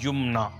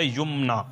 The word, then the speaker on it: Yumna: spelling जो आएगी वाई यू एम एन ए यमना ठीक है ये तो इसके दुरुस्त स्पेलिंग और इसका प्रोनंसिएशन हो गया यमना ठीक है इसके माने जो आते हैं वो